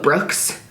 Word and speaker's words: Brooks: Having Brooks, not Brooke, but Brooks, Brooks, not like the girl version of how it's spelled.